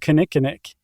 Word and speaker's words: kinnikinnick: So that ground shrub from the prairie you mentioned is called kinnikinnick. And it's spelled like it sounds.